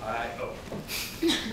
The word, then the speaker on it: Io: Jupiter has a moon called, just like it's spelled, I-O.